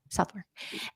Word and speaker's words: Southwark: arms for and am I saying it right southwark England yes South yes southwark and that is very close to the tower